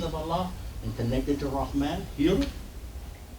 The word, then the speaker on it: Rahman: A lot of people say man. And the word is Rahman. But when you syllabicate, you're going to hear that ma is a syllable, and then the noon goes with the next syllable.